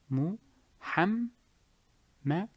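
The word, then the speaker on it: محمد: Mu ham ham ham muhammad mad mad Muhammad Muhammad. So here it will be Hamad. You must hear the letter twice.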